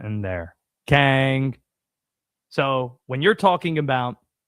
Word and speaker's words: King: I live 45 minutes away from a town spelled K I N G. Nobody there calls it king. It's pronounced Kang, right? Got to have the accent in there. Kang.